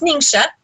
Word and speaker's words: Ningxia: these products okay our name should wesberry is pronounced lingsha guy so not ninja even though you're you can say it that